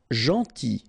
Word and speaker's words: gentil: Gentil. So it's a strange one because here this final L is not pronounced.